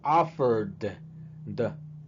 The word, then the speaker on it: offered: Verbo que termine con R, la ed se pronuncia como D también. Offered. Offered.